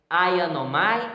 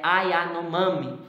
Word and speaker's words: Yanomami: Então, desculpa, eu falei Ayanomai, mas é Ayanomami.